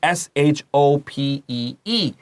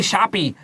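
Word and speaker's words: Shoppe: They'll spell it S-H-O-P-E-E. And, well, you all know that APP. How do you say S-H-O-P-E-E? You'll say shoppy. Don't say that. It's just shop, okay?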